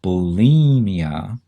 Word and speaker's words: bulimia: is because it's pronounced bulimia and it sure makes it sound like there's an e in there it sounds like it